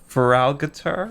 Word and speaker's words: Feraligatr: Shiny Feraligatr.